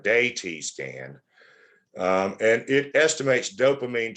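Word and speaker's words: DaTscan: can figure it out, you would call this a DA-T scan or a DAY-T scan.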